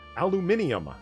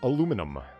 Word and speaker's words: aluminium: Now, Polly, say it properly. Aluminium, not aluminum. Yes, that is the correct way.